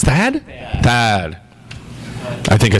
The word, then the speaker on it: Thad: Thank you, Thank you, Tad. Tad. Oh, sorry. It's Thad.